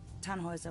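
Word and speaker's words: Tannhäuser: why what's your name we'd pronounce it tan hoiser with an umlaut yes my grandpa these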